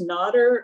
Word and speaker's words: Nader: I did have a question for you, and Nader, is your name pronounced Nader? Is that correct? Yep, Nader, okay. Like water with an N at the beginning.